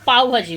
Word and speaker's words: পাও ভাজি: এটা ভুল উচ্চারণ করেছি, তো এটাকে দিদি বললো পাও ভাজি বলে।